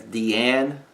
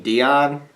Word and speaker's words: Deion: I believe he pronounced it as Deanne Sanders. Actually, I know that's how we were looking at each other at the bar. I remember I literally yelled. I remember yelling, you mean Dion?